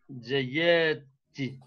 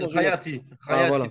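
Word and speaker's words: خياطي: Hada sirwalu waladi jayati. C'est bon, mais il y a un gros problème avec la prononciation. Khayati.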